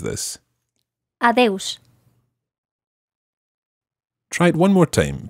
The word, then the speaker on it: adeus: There are a couple of ways to say goodbye, but one that will work in all situations is adeus. Listen again to how Uxía pronounces this. Adeus.